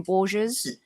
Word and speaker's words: Borges: Is that how you pronounce his last name, Borges? Yeah, Portuguese, yeah. Yeah, okay.